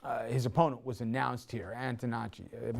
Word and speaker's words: Antonacci: um right now tan DiNapoli is there this poll was put out before the his opponent was announced here antonacci am I saying it right yeah thank you